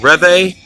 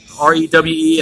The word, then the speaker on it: Rewe: with me to, I think it's called a Rewe, R-E-W-E. I think it's pronounced Rewe.